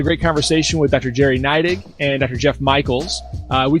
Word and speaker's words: Neidigh: Neidigh. Oh, okay. All right, here we go. Yep. All right. Dig. I dig Neidigh.